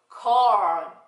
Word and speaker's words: corn: corn. 네. corn. 이렇게요. corn. 네. 이렇게 하면, 옥수수가 되죠. corn. 근데 우리가 아이스크림은 아이스크림 콘 이렇게 하고 옥수수는 corn 이렇게 하죠. corn. 예. 우리가 하는 콘 하는 발음은 없어요.